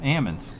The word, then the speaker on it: almonds: said there that's awesome so so almonds with the l where you pronounce the l roy is that what you're saying no way let me grab my the text the guy that i personally know that grows them calls them ammons well and and so